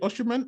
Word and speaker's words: Osimhen: Is it Oshiman? How do you say his name? Oshiman, the striker, 23 Yeah, years old, Osimhen.